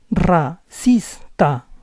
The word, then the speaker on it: racista: When a word begins with R, this R is always a rolling R. Racista, racista.